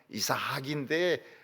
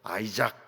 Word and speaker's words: 이삭: 원래 발음은 이사학인데 영어로 이제 번역되면서 아이작 이렇게 되는데 이사학입니다.